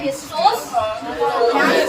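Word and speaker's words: histos: हिस्टोस, मैं क्या प्रोनाउंस कर रही हूँ, हिस्टोस और लोगोस।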